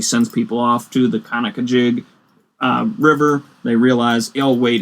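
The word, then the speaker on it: Conococheague: talking about the Conakajig River. Not Kanakachig. Not the Conakachig. No, Conakajig. Yes.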